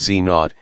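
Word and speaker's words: Z⁰: These were called W plus pronounced W plus W pronounced W minus Enzo pronounced Znot and each had a mass of around 100 GEV.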